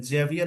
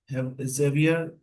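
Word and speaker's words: Javier: देखिए यहाँ पे इनका ना प्रोनाउंसिएशन चेक कर लेंगे, है जेवियर ऐसे लिखा है बट इसको हैवियर भी कहते हैं।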